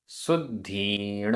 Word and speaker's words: शुद्धीण: शुद्धीण आधा द ध, शुद्धीण, दंसण शुद्धीण।